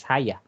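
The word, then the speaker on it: Hagia: neyman they will pronounce the proper way of pronouncing it is haya meaning holy here we have the monastery or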